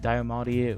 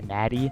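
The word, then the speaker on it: Diamatti: we have the 1911 the diamadi which actually someone corrected my pronunciation of that which thank you for that because i was pronouncing it completely wrong i believe in my other video i said matty that was completely wrong and then we also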